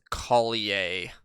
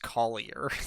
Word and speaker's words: Collier: is LJ Collier deep I think that's Colley a oh he's French well I think the last name isn't pronounced Collier like Collier greens yeah well is LJ